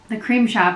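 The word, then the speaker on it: The Crème Shop: So to start off, the Cream Shop, and it's spelled C-R-E-M-E. So if you're Googling it, it's not like C-R-E-A-M.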